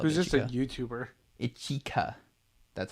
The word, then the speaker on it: Ichika: Ichika. That's how it's pronounced. Ichika.